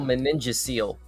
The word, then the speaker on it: meningocele: control the pronunciation uh the pronunciation seems to be meningosial seal management nasal meningocele I guess was the was the way to pronounce that I'm told so okay uh noted